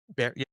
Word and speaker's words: Bexar: County and it's Be X County, but it's pronounced Bear. Yep. Bear.